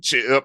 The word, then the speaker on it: Ch'p: Don't don't say it like it's like Kal-El with a with an apostrophe. Ch'p. That's an apostrophe. It's c h apostrophe p.